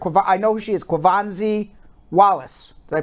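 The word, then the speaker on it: Quvenzhané Wallis: Kwavanzi Wallace. Did I pronounce her name right? Never say her name. I can. Yeah, Kwavanzi Wallace. I'm pronouncing her name right.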